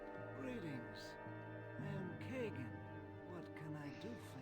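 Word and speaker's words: Kagain: here hello Mr Kagan why it's Kagan I don't know it's spelled Kain but whatever greetings I am Kagan what can I do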